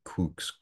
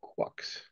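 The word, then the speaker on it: quux: to pronounce these, but I propose that it should be kooks, kooks, kooks. Any objections? I've always heard it pronounced in variations of quucks. Quucks. The QU is a qu rather than a k.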